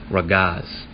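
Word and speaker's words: רגז: You have a ra, ga, and a za, and once again the ga and the za is connected, so it's going to be pronounced ragaz.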